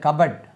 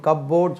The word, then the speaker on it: cupboard: இந்த இது கவனிங்க, CUPBOARD, ஐதர் இந்த கபட். நல்ல கபட், இதுக்கு உச்சரிப்பு கப்போர்ட் சொல்லுவாங்க. கபட் கபட், நீங்கள் கபடி சொல்கிறீங்க இல்லையா, அதில் பாதி கபடி கபடி கபடி கபட் கபட் கபட் கபட் கபட். கப்போர்ட் சொல்லக்கூடாது, அல்மாரி மாதிரி உள்ளது கபட்.